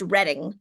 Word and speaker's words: Reading: you know ear you mentioned this I it's pronounced reading it's okay everyone says everyone says reading because